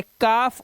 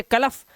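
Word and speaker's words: calf: से पहले आया जैसे काफ और हाफ इसके अंदर दोनों में देख रहे हैं एल साइलेंट है इसे कलफ या हलफ नहीं पढ़ते हैं हमसे काफ और हाफ पढ़ते हैं एल साइलेंट क्योंकि एफ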